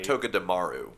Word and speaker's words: Togedemaru: This week's Pokemon is can I pronounce this correctly? Togedemaru. Yes. Give me money. Togedemaru.